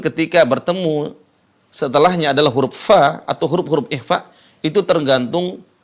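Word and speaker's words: ف: makhraj huruf Fa huruf Fa Di mana tempat keluarnya gigi seri ketemu dengan bibir bawah perhatikan Fa coba ikutin Fa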